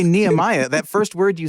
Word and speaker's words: Nehemiah: cuz I think maybe this is more a Hebrew root think because they tend to say nemia like uh like Jewish people do yeah or some American